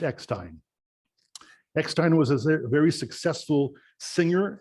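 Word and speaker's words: Eckstine: of the letter e to the end still pronounced ex-time ekstein was a very successful singer and band leader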